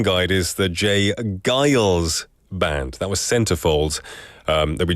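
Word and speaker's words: J. Geils Band: I incorrectly read it as the J. Giles Band, but looking at this pronunciation guide is the J. Giles Band.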